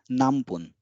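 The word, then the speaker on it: 何分: will be pronounced as nambun because whenever there is this kind of combination the N becomes m n just like M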